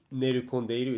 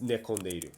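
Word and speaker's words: 寝込んでいる: It's not nerokondeiru, it's nekondeiru. So, and if you're ever not sure, you can say nerukoma, that's not right.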